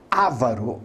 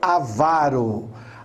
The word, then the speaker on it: avaro: Então, por exemplo, muita gente fala ávaro, não é ávaro. Aí seria uma proparoxítona. É avaro.